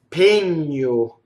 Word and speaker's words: pegno: Pegno. So again, we have our GN from lasagna, right? And it's closed E on a stress.